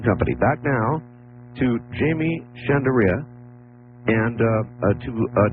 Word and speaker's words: Shandera: Now, Art, you're you're you're real close on my last name. It's Chandere. Chandere. Is it Chanderea? No, Chandere.